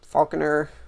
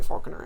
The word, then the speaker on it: Falconer: I like to say Falconer I actually don't think that almost anybody thinks that it's supposed to be pronounced FAL Falconer especially because you don't say Falcon unless you're talking about Star Wars um but that that's